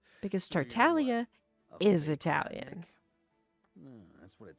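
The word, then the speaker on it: Tartaglia: You're not supposed to pronounce the G in Italian. You don't pronounce it.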